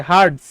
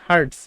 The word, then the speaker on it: hertz: Per second মানে S inverse one, তো এটার উচ্চারণ করি পার সেকেন্ড, অথবা আরেকটা নাম আছে হার্টজ, ঠিক আছে, হার্টজ, HERTZ, হার্টজ, এত হার্টস, হ্যাঁ বলে না যে ফ্রিকোয়েন্সি।